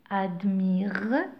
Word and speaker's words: admirent: Sophie et Henry admirent, j'ai pas prononcé ENT, c'est un ENT du pluriel, d'accord?